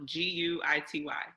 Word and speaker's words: Guity: Spelled like guilty, no L, Guity. Got that? Let me say that again, Miss Guity. That's guilty without the L.